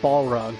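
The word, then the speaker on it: Balrog: who this is balog I'm sure it's supposed to be pronounced ballog but I just say balog do they have anybody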